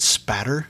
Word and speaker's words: spatter: Did they test the blood spatter? See, I said it right that time. So proud of you. Yeah, no L in that spatter.